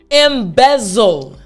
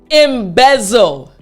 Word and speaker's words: embezzle: time the entire word all together after me embezzle excellent one more time embezzle good job so now we understand how to properly pronounce the word we understand the meaning of